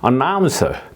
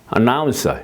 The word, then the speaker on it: announce: 예 그다음에 보시면은 이제 아 두 번째 음절에 액센트가 있는 경우는 이렇게 이제 한다 이거죠 announce 그니까 announ announce 이렇게 산처럼 이렇게 이